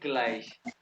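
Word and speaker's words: gleich: फिर plus Y equal को कहते हैं ग्लाइश। फिर प्लस वाई ग्लाइश जीवन हो गया। माइनस को इंग्लिश में स्पेलिंग है, लेकिन अकॉर्डिंग टू जब मीनस हो गया, ठीक है।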